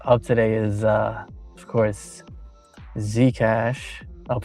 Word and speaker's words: Zcash: Zcash.